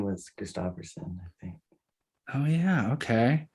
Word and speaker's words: Christopherson: how do you say how do you say your last name kristopherson oh you were right oh I lost that